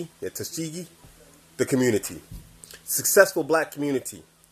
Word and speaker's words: Tuskegee: Tuskegee? Yeah, Tuskegee.